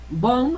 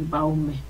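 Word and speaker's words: Baumé: datos de grados bom bom es el apellido de un francés y así se pronuncia ya nunca van a decir baume regularmente la gente ya sabe que se conoce como los grados bone entonces eso es nuevo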